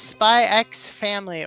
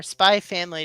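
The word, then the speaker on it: Spy × Family: Anyway, this is Spy X family or spy family depending on if you're anal about pronouncing the X part.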